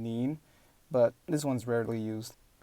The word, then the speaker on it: 您: There's also a formal version, which is pronounced 您, kind of with an N sound in the end, 您.